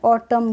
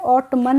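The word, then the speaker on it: autumn: रहता है ठीक है जैसे ए यू टी यू एम एन है तो इसमें ऑटम क्या पढ़ेंगे ऑटम पढ़ेंगे ऑट मन नहीं प ठीक है ऐसे ही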